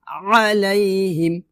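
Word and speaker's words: عَلَيْهِم: বলছি গলার মাঝখান চাপ দিয়ে একটু কষ্ট করে উচ্চারণ করতে হবে। বেশি বেশি চর্চা করুন ইনশল্লাহ হয়ে যাবে। আবার বলি আলাইহিম আলাইহিম ওয়ালা এখানে আমরা চার আলিফ টান দিয়ে লামকে ধরব।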